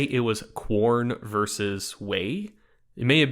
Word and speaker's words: Quorn: So I think it's pronounced corn, but it may just be corn. I think it's like QUORN.